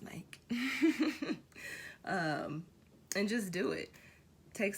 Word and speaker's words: Nike: Fun fact, it's pronounced Nike.